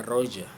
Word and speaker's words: Roger: لكن في إنجليزي بطلع 5 حروف لأنه جي ده طلع ار ده سايلنت بقى روجر.